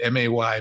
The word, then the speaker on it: May: in Germany there was an author named Carl pronounce it Ma but Ma y May who wrote A series he was the